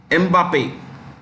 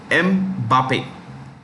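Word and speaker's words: Mbappé: Kylian or Kylian Mbappe. This is exact pronunciation.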